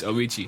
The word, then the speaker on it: Avicii: I don't know how to pronounce his name. I'm really sorry Avicii. if it's wrong. It's Avicii.